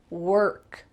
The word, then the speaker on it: work: The girl went through her work. Work, work. There's an O in this word, but instead it sounds like W-E-R-K. Work, work. Make sure that that R is strong.